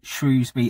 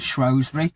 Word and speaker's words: Shrewsbury: It can be pronounced both ways, so possibly similar to the argument between Shrewsbury and Shrewsbury.